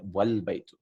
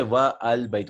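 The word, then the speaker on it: وَالْبَيْتُ: Wal Baytu. Right? Wal Baytu. And the house is pronounced as Wal Baytu. We don't say Wa Al Baytu. We don't stop and say Wa Al Baytu.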